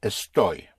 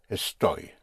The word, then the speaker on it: estoy: I am is a story. A story. A story is spelled E S T O Y.